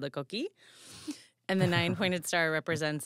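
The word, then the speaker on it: coquí: It actually says coqui. Yeah, the frog makes that noise. And it's called coqui? Yeah. Cute. It goes coqui. So its name is onomatopoeic. Yes. It's pronounced just like that.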